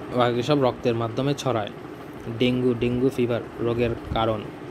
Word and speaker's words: ডেঙ্গি: সব রক্তের মাধ্যমে ছড়ায় ডেঙ্গু ডিঙ্গু ফিভার রোগের কারণ ডেঙ্গু প্রকৃত উচ্চারণ ডেঙ্গি একটি ভাইরাস ঘটিত রোগ